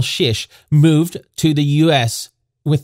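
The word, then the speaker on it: Czyz: And the family name, Shish, is spelled C-Z-Y-Z.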